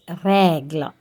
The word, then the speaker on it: règle: Here we have the E with the grave accent. So you have to pronounce it A. So it is règle, règle.